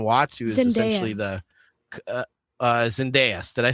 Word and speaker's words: Zendaya: or if John Watts, who is essentially the Zendaya. Did I say Zendaya? Said Zendaya. It doesn't matter what you said. You said it wrong. Okay, Zendaya.